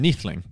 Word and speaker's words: Neethling: How am I pronouncing your last name, Neethling? Yeah, that'll do. Yeah. Honestly, that's as good as it's going to get. That's a win, mate. I'll take that. That's probably one of the best pronunciations I've heard of it.